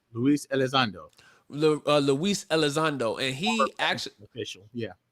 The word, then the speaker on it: Luis Elizondo: and the uh the the brother name is luis versado is that how you pronounce the last name luis alexander luis elizondo and he actually official yeah yes sir and